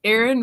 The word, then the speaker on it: Aaron: you say it the first time I said a a Ron because it's pronounced Aaron I feel like people were doing